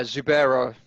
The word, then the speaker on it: Zubaira: think that zoo by is that how you pronounce it yeah zubaira just call him zubair zubaira you'd think that